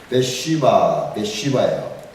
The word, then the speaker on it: Bathsheba: 바세바가 이름을 잘 지었어. 바세바를 영어로는 베쉬바예요. 우리가 바세바 그랬는데 베쉬바 스펠링이 BATHSHEBA 그 해석가 있습니다.